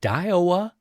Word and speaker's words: Daiwa: I believe it's the Daiwa.